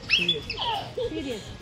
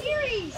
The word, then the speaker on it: Ceres: Serious. No, Ceres. Okay, fine, whatever. Ceres is not even that. Okay. Whatever you pronounce, yeah, that's right.